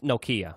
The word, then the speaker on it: Nokia: hit me up um it's Nokia first of all just don't yeah I think the people over the pond call it like Nokia they pronounce all their vowels weird how about Nakaya now